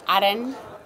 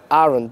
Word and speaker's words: Aran: So the restaurant is pronounced Aran. Aran, A-R-A-N.